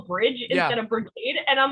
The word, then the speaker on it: Brigade: back go back it's it's Brigade not bridge but yeah I think